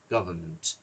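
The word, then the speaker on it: government: গভর্নমেন্ট, এটা গভর্নমেন্ট বলে না, গভর্নমেন্ট। সো এখানে এনটা সাইলেন্ট থাকে।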